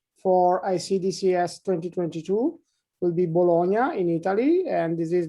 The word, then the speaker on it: Bologna: And the way of pronouncing Bologna is in Italian Bologna and in English Bologna.